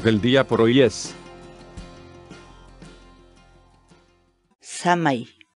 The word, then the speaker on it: samay: de vídeos en la que te enseñamos a pronunciar algunas palabras en quechua así que nuestra palabra del día por hoy es shamah y shamah y shamah la palabra quechua sana y en español